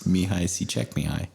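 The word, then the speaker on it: Csikszentmihalyi: like the the person that coined Flo it's mihai see check me high oh my gosh yeah yeah that's not how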